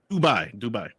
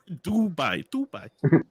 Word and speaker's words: Dubai: Dubai. God damn it, Dubai. Dubai. D-U, not D-A. Dubai.